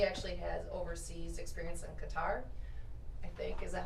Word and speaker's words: Qatar: She actually has overseas experience in Qatar, I think. Is that how you say it, Mr. Yeah. Noble? Yes. Qatar.